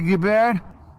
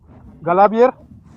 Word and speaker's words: Galibier: You don't pronounce it as it's written.